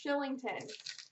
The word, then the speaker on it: Kylington: like shell okay oh it's just like how kylington is pronounced shillington so it's like shell i get it i'm